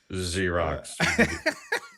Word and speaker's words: Xerox: correctly point out that I said Xerox, which starts with an X and Z is the 3rd letter. So yeah, but it's pronounced Xerox.